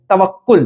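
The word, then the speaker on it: توکّل: बोल के देखो तवकुल टी ए डबल ए के के यू एल तवक्कुल। तवकुल जोर से बोलो। तवकुल जय माता दी। कैन you guys pronounce तवकुल टी A double A के के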